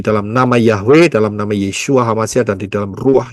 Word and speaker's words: Yeshua: Yod Shin Waw Ayin tidak bisa dibaca Yesus. Pahami baik-baik. Ya, tidak bisa. Jadi bacanya harus pakai Ibrani, nggak bisa pakai Indonesia.